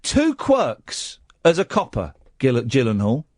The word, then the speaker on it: Gyllenhaal: Cuz he had he had two quirks as a copper Gyllenhaal and is a soft G like Jif.